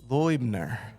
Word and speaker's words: Loibner: from me today, I have Peter and Whitney Loibner.